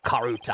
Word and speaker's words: karuta: to ascuendo you saw the karate cards first hand did you not karuta i keep saying it wrong i'm sorry would you